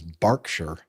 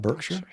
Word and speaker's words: Berkshire: He says Barkshire. Really? Barkshire. Bach. Not Bergkshire.